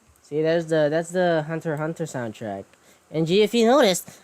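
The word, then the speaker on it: Hunter × Hunter: You know what I love about this is I'm using the um Hunter Hunter and it's pronounced it's pronounced Hunter Hunter because the X is silent but it's I'm using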